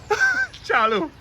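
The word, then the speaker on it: Charleau: Charlo.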